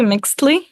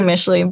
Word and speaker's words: Mixtli: was like oh yeah michley and they're like it's actually mix Le like ohre it's actually michley but yeah they they